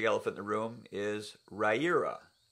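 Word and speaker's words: Riyria: So the first, the big elephant in the room, is Raira. Pronounced as in rye, as in the grass, ear, as in the body part, and that's how you pronounce Raira.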